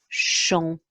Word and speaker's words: chanteuse: and you put that together and you get chanteuse, and that is how it is written phonetically, chanteuse.